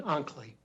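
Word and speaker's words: Oncley: Unsley, thank you for your patience. Oh, should I correct pronunciation? Onkley. Onkley. Onkley, spelled O-N-C-L-E-Y.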